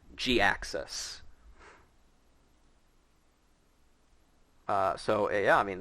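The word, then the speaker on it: Jhiaxus: name is spelled but it is pronounced g axis uh so yeah i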